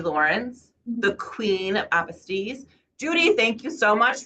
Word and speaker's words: apostille: apostille? Is it apostille? Apostille is apostille is the French word for certification or for certificate.